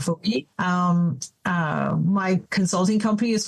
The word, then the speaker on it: Defoe: without an E, Defoe, exactly like Daniel Defoe, yes. Defoe.